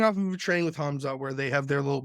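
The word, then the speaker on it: Khamzat: I think he beat Darren until coming off of a training about with Kamzot Chamay, however you want to say his name. I hate that guy. Hamzot.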